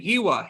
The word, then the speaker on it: Hiwa: I was born in Germany, and in German, W's are pronounced like V's. So it's just been this like awful curse that my parents have put upon me, where I constantly have to explain that my name isn't pronounced like it's spelled.